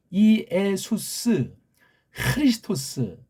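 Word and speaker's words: Ἰησοῦς Χριστός: 그렇게 발음하시는 거 알죠? 이에수스 크리스토스.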